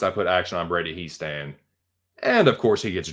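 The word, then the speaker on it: Hiestand: Whatever if it's a German last name, and it's an I and an E, you pronounce the second letter. So if it was HEI, it would be high stand, but it's HIE, so it's he stand.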